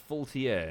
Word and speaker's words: Faultier: Egomania says, Womble, Faultier's name is pronounced Faultier, not whatever French you're coming up with.